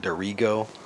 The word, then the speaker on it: Dirigo: I think they pronounce it duro, but you could see the box back there.